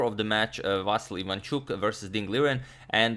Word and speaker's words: Vasyl: It seems that I've constantly been spelling it Vasyl Ivanchuk when it's actually Vasyl. It's the Ukrainian version of the name, and it's the one, of course, he himself prefers.